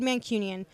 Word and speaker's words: Mancunian: mean chin Ian when Mancunian I'm an adopted Mancunian he's gotta learn to say it right first right Union there we go adopted Mancunian one day working on